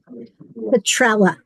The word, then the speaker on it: Petrella: Caroline, how does Chris pronounce his last name? Petrella. So Petrella. it's Petrella. Yep.